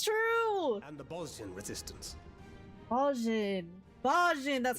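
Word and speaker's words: Bozjan: Bosnian. Bosnian, that's how you pronounce They it.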